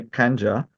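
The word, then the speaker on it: Khanjar: This is I'll pronounce it the Indian way, Kanja.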